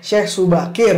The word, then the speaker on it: Syekh Subakir: ya Iya benar Syekh Syekh Subakir bacanya SY Syekh Subakir bukan Syekh Il yair guys jadi dia adalah